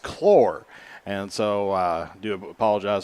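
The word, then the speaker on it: Claar: but it's uh as they told us it's pronounced chlor and so i do apologize for that on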